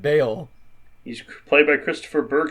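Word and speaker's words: Bael: not even it's not baal that you haven't spelled b-a-e-l yeah it's but it's by elle but they pronounce it bale he's played by christopher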